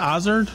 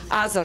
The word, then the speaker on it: Azor: How do you say that? Ozard? Azor, yes. Azor. Okay. Azor, but? is fine.